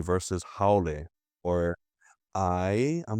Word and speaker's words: haole: If there's not that Maui sounding pronunciation, I teach my students, I don't want to hear you pronouncing it, an A as an E. Yeah, so like when they say haole versus haole or I'm like, are you hungry?